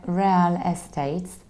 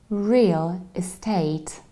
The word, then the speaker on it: real estate: key expression which is sometimes unfortunately I hear rel estates where as we need to say real estate real estate we have real and then it shows a and we stress the second syllable is take real estate